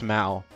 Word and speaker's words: Mal: Either way, our next one goes to none other than Mal. Did I pronounce it right? Mal, it's Mal.